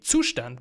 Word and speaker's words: Zustand: add another Library called Zoo stand uh I guess that's how you would pronounce it if you're an English-speaking country I from Germany would say sustan because this actually means state in German this is a German